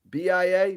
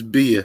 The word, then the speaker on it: Bia: sexy all right uh how do you say her name it's bia b.i.a bia i think he's not sure yeah i think yeah i think it's beer the girl beer yeah she's fly she's